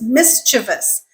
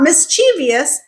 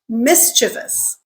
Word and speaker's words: mischievous: The correct way to pronounce that word is mischievous. So just pretend that E in the second syllable doesn't exist, and the word just magically becomes much easier to pronounce. So what is it? Not mischievous, mischievous.